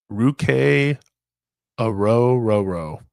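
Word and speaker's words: Ruke Orhorhoro: Then you have Ruk Aro.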